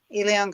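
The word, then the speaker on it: Elián: Perth says Elian, is that how it's pronounced? Elion, yeah.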